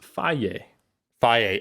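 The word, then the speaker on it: Fage: chobani yeah i wanted to say is it feige how do you say the f-a-g-e it literally says it on the package it says it's pronounced phi phi okay so you know what see in canada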